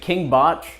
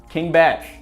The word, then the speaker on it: KingBach: And then he says, it's pronounced Batch. King Batch.